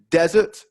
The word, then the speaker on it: desert: um sweet dessert so the only difference between the two words is the stress desert first syllable dessert second syllable so stress is really